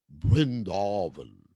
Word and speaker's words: Vrindavan: sized viera just like prabhupad would pronounce uh vrindavan as brindarvan brindal you know so there's there's a bee instead of a v when you're in bengal like brenda law that was how probably pronounce vrindavan so and also uh